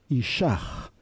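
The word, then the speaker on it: אִישָׁהּ: Y cuando lleva un puntito dentro, se pronuncia como una J un poquito suave. Ishach.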